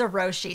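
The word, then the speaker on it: Zojirushi: Is that how you pronounce it? It's Zeroshi.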